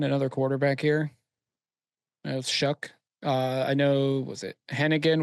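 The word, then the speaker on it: Shough: This is Shook. That guy. Yeah, That's how that's you say Shuck. it. That's how you pronounce his name.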